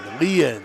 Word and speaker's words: Leanne: Don't call him Leanne. I thought he said don't call him Leanne. His dad told me it's like alien. Leanne. Okay, alien.